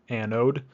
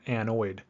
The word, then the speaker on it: anode: before we move on anode is pronounced anode not anoid all right so we're